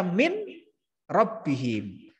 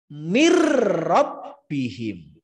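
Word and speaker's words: مِنْ رَبِّهِمْ: Yang betul min rabbihim harus dibaca mir rabbihim. Ya, nunnya masuk ke ro.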